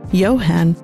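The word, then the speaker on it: Johann: And speaking of talented individuals, we really need to talk about Johan. Or rather, Johan, as is pronounced in German.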